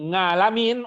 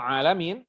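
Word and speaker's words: العالمين: munculnya setelah zaman rasul Jadi kalau orang membaca al-qur'an Alhamdulillahi rabbil ngalamin umpamanya padahal alamin kita tetap menyalahkannya enggak boleh tidak ada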